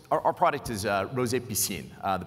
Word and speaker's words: Piscine: enough okay what our product is rose a piscine the pronunciation is like PE + + scene so